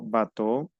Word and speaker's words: bateau: EAU también se pronuncia O, digo bateau o manteau.